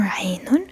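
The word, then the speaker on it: عين: Ainun for the sound not qa, not ha, for Ainun.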